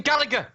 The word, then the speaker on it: Gallagher: That is the pronunciation, Gallagher. But for some reason, they call him Jack Gallagher. And it's like, there's the fucking G in there, right?